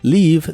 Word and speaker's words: leave: leave the Lights on Leave se pronuncia con la i larga o doble y termina con el sonido de la v o b chica que es la biodental